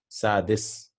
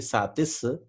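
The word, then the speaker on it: سادس: Khamsa, we won't say khamsa, we'll say khamis, sadis. Right? Sitta, it becomes sadis. It should have actually been satis. They changed it to dal because for easier pronunciation.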